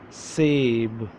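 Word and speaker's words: سیب: Sab, sab, sab. Now I'm going to pronounce alphabets. Seen, ye, be, sab. Seen, ye, be, sab.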